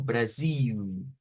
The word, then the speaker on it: Brasil: Algo así como Brasil, Brasil, Brasil, un poquito prolongado.